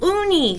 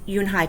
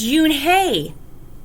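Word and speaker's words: Unhei: girl asked scrunching up her face ooh ooh uni some kids chanted no no unh yoon hai corrected it's spelled u n h e i it's pronounced yoon hai oh it's yoon hey the boy said like hey you what about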